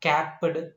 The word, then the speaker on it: capped: these two is not capped and laughed. What is that? Capped and laughed. Here ed is represented by t, not d.